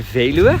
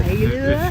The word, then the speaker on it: Veluwe: I know hard to pronounce. The Veluwe. The Veluwe. Veluwe, exactly.